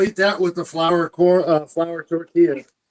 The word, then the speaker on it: tortilla: Anything with tortilla is you got to roll your R's like tortilla.